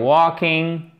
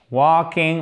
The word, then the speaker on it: walking: While walking, walking, on ne prononce pas le L.